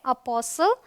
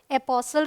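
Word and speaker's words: apostle: Rule number 2 कहता है अगर टी के बाद एल आए तो टी साइलेंट होता है। तो देखिए टी के बाद एल, सो टी एल ई जब होगा तो टी साइलेंट होगा। ये है अपोसल, एपोसल रादर, ये है ब्रिसल, ये है बसल, देखिए STLE, ये है कासल।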